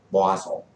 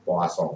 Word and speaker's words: Poisson: Bacanya Poisson. Poisson itu bacanya Poisson karena bahasa Perancis ini.